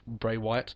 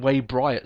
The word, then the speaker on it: Bray Wyatt: from bray W wet Bray Wyatt I always get his name wrong I always call him way bright sometimes I don't know